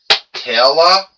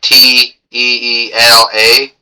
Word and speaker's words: Teela: I GUESS THAT'S TEELA, like it's spelled t e e l a. I guess it's Teela.